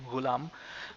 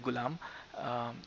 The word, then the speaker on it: ghulam: tricky for you it's it's actually ghulam but you can call it gulam we use this word